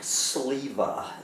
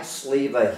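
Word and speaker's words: Sliwa: About this doomer, Mike Sliva. That's spelled S-L-I-W-A. Mike Sliva, he used to be the right-hand man of that person we don't talk about here on this channel.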